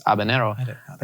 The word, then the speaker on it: habanero: Like, I'll hear a lot of people say like habanero. That's an entirely different letter. There's no enye. And the enye and the n are entirely different letters within Spanish. And so you're just fully missing pronunciation by trying to, I guess, overshoot. And it's just habanero, I didn't know that.